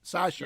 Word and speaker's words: Sacha: celebrity names whose pronunciation is exactly always it's pronounced exactly like that sasha yeah yeah okay i've never heard somebody say